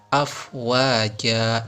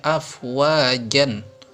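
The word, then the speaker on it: أفواجا: Jadi afwaja, jangan dibaca afwajan. Baca afwajan, bacanya kurang tepat. Yang betul adalah afwaja.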